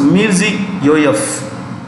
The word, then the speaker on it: Mirziyoyev: When a Russian or the Central Asian names ends in V. Remember, it's pronounced with an F. It's pronounced with an F. So Mirzi Yoyev.